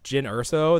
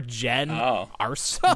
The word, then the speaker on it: Jyn Erso: know her name is Jyn Erso. They're like, I think her name is going to be pronounced Jem or Jen Urso.